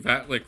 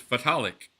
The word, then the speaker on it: Vitalik: It's just like I was talking to Vitalik, who informed me last night that we've all been calling him Vatlik forever, and he thinks it's amazing and funny. But his actual name is Vitalik.